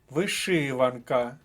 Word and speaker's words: вишиванка: слово з першого блоку вишиванка вишиванка другий склад друга колонка вишиванка наступний блок слів